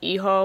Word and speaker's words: hijo: same, and spelling, like, hijo, you don't pronounce the H, but spelling it without